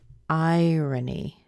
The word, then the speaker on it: iron: number one we have irony irony I Ronnie I runny irony irony number two we no longer have the ayran we have I yearn I yearned iron iron pump some